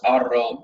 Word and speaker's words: Haro: Someone just mentioned that the H at the beginning of all the words in Spain is silent, so it's Arro and Heredia.